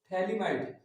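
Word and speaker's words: phthalimide: ये के पोटेशियम जोड़ दिए, तो इसका नाम हो जाएगा पोटेशियम थैलीमाइड। ये पी साइलेंट है यहाँ पे।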